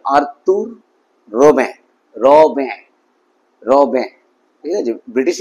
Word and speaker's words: Arthur Rimbaud: ইন the valley by আর্তুর রবে উচ্চারণটা খেয়াল করবে কারণ তিনি ফরাসি কবি ছিলেন ফরাসি ভাষায় উচ্চারণটা এভাবে হবে আর্তুর রবে রবে রবে ঠিক আছে ব্রিটিশ ইংলিশ হলে আর্থার রেম্বা উচ্চারণ হতো কিন্তু ফরাসি